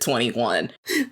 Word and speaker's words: 2NE1: am and then it took me the longest time to realize how to pronounce the name i can't even tell you now what i thought it said but i i sure as hell did not think you said 21.